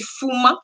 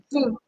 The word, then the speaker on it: Pouma: de faire avec Judith, c'est Fouma, si je prononce très bien. C'est Pouma. C'est Pouma. C'est Pouma. Oui, c'est ça.